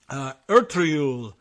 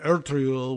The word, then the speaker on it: Ertuğrul: than of the name Ertuğrul, which also has one of those weird G's in there. It sounds like a Y.